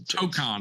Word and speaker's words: Tokon: So T-Mac, why don't you tell me how you pronounce it? What is the full title? It's Marvel Tokon Fighting Souls. Tokon is how you say it.